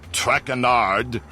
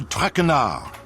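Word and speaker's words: Traquenard: butchered while I eat as for my name not TRACON art it is trackin our track renard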